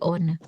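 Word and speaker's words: ohne: gak bisa hidup tanpamu pakai tanpa on jadi bacanya bukan ya tapi on selanjutnya ada gen gen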